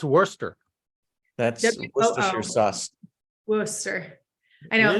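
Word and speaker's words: Wooster: town of Worcester Ohio wer Ohio yep wer pronounced Worster that's Worcester I know it looks like Worchester if I College of Worcester yeah like the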